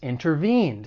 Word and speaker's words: intervene: Now, for pronunciation, the verb has three syllables. the stress is on that third syllable. Intervene. One thing I want to point out when it comes to the American accent, because I'm from the United States, is when the T follows an N sound, especially in unstressed syllables, it may elide and people may drop it.